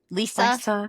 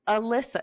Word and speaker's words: Lysa: And I don't know why we call it Lysa, but it's called Lysa. Lisa. Lisa. Lisa. I read it like Alyssa. It's spelled like Alyssa, but without an A. So, I was like Lisa.